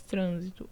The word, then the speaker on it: trânsito: e paroxítona correto pessoal proparoxítona que tem a antepenúltima sílaba tônica tá então aqui eu tenho três sílabas trânsito né e a tônica que marcada pelo assento toda proparoxítona é acentuada é a antepenúltima a trânsito já muda